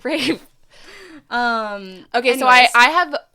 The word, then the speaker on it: Ralph: Why is it spelled like that? Rafe.